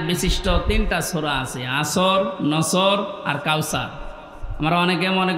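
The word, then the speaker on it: نسر: এই সূরাটা অনেকে পড়ে নুনদর নাসর মানে সাহায্য আর নুন সিন নাসর মানে ইগল পাখি এজন্য তেলাওয়াত যখন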